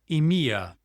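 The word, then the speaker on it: EMEA: Emia pronounced EMIA for Europe, Middle East, and Africa.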